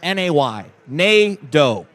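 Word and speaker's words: Negaunee: us the note that NATO is pronounced like Plato but just na y n do so that's a a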